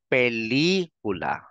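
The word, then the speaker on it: película: ilang syllables yan apat So kung nasang syllable yung accent Mark doon mo ilalagay yung emphasis so pag binigkas mo ito ngayon ang basa diyan ay pelicula pelikula pelikula hindi mo sasabihing pelikula hindi ganon o kaya naman ay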